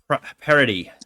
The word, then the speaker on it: Paradis: my conversation with Jeannine Paradis. All right, my guest today is the coach of the Biddeford Tigers girls team, and Jeannine Paradis. Did I say that right? Yes, you did. Paradis.